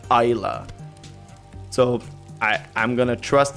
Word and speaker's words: Islay: a gaelic word and in gaelic you don't pronounce it islay you pronounce it ila so i i'm gonna